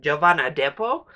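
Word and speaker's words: Jovan Adepo: the standout here is I think it's pronounced giovanna depo who is our lead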